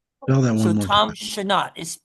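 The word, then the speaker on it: Chenault: The last name is a French name. It's actually the the name of a brand for a car. So Tom Shanat is it's pronounced Shut H E N A U L T.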